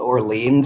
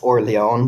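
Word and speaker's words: Orléans: I mean, I know that New Orleans is based off the French area called Orleans, which is actually pronounced Orleans, but that was way too hard. So we were just like, okay, there's an S, it's Orleans.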